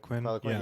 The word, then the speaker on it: Poliquin: So like was it Charles Poliquin? Is that how you say his name? Poliquin.